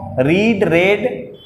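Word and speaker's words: read: तो रीड का third form रेड होता है, क्योंकि ऑक्सफोर्ड लिखता है फ्रेंड्स कि रीड का थर्ड फॉर्म और सेकेंड फॉर्म रेड होता है, लेकिन प्रोनाउंसिएशन बस रेड होता है, स्पेलिंग सेम होता है।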